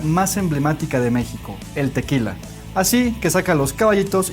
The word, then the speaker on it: tequila: No se dice ni tequilagüer, ni tequisquiapan, ni tequila, ni nada por el estilo. Es tequila.